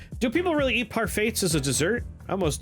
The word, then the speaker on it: parfait: Do you have a problem with how I say parfait? I think you're confused. Silent T. I don't think so. What is it? Q. Come on. The T is silent.